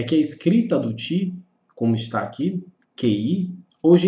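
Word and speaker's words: 氣: Você vai encontrar com TCHI, você vai encontrar com KI, você vai encontrar com CHI. Então, por mais que a escrita seja QI, a pronúncia do conceito é Qi.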